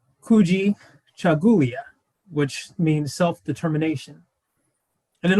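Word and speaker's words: Kujichagulia: the second principle of kwanzaa and it is pronounced kuji chagulia which means self-determination and an overarching uh quote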